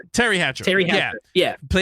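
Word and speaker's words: Teri Hatcher: Um when Paris was played by Terry Hatchet. Um did I say her name right? Was it Terry Hatchet? Terry Hatchet. Terry Hatcher.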